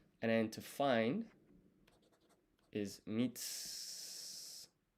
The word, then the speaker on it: mitsukeru: And then to find is mitsukeru. This U here is silent. So you don't pronounce it for some reason. This is mi. This is tsu. So mits. And then we need ke.